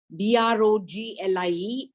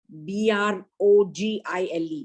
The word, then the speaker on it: Broglie: Broglie and not Brogie.